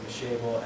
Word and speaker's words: Mashable: I think it's pronounced Mashable, M-A-S-H-A-B-L-E.